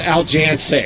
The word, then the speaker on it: Aljancic: I can't say his name. It's Aljancic. It's Aljancic. Yes.